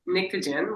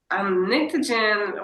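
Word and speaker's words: Pnictogen: It's called Nictogen, which is spelled P-N-I-C-T-O-G-E-N. It's an elemental term. Nictogen, we're about to put out our 4th album.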